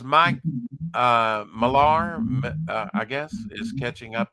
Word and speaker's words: Millar: time but you know he pronounces it Miller which I guess it's